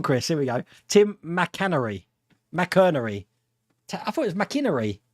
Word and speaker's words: McInerney: Tim McInerney. I thought it was McInerney. Tim McInerney. I'm so hopeless when it comes to pronunciations.